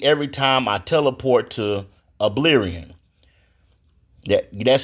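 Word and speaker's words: Albion: The game keeps crashing every time I teleport to Oblion. That that's spelled A L B I O N.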